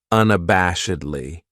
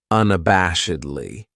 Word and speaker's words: unabashedly: then we have unabashedly this adverb has five syllables and the stress is on that third syllable that bash unabashedly that second syllable has that schah that uh sound unabashedly what it means is